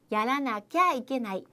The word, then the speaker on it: やらなきゃいけない: 자, 이것이 회화체에서 발음이 축약이 됩니다. 뭐 이렇게 복잡해. 하나만 더요. 야라나캬 이케나이입니다. 야라나캬 이케나이.